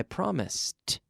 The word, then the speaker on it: promised: go to the party I promised so it has that t sound in the past but it's not an extra syllable every day I promise